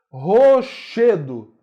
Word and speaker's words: rochedo: Rochedo. Che é mais forte.